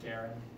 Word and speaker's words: Guerin: So this is the, is that, how do you pronounce that? Guerin.